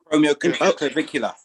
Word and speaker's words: acromioclavicular: Inflamed cushions and inflammation of the bursa, and something to do with the acrocricular joint or something like that. Acromioclavicular. Yeah. Acromioclavicular joint. Yes.